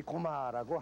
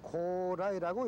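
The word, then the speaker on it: 高麗: 정착했으니까 지금도 이 고마라고 해요.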